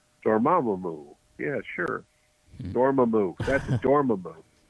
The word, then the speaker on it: Dormammu: I know how to say it, Dormammu.